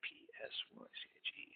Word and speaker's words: Psyche: This is a transliteration of how to spell Psyche, P-S-Y-C-H-E. P-S-Y-C-H-E. In the Greek pronunciation, you say Psyche, that's the upsilon would be the word there, the letter there.